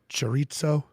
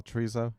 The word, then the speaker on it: chorizo: do you pronounce it chorizo oh teresa yeah yeah that jerry's is better that was close right fair mm-hmm you threw a t in there i don't think there's